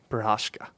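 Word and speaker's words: Procházka: And then, this weekend we've got Prochaska? How do you pronounce that? Yuri Prochazka There you go.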